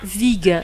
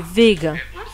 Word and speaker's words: vega: C'est pas Vig, c'est Vega. Ou Udavarta peut être reflux.